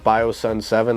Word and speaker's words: BioSon: bios and music or biosun seven so yeah man that's how you can find it and my name is pronounced bio sun we're actually getting ready